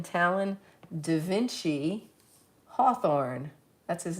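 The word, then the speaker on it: DeVinci: at a place called Dainci House website like Leonardo da Vinci. It's spelled a little differently.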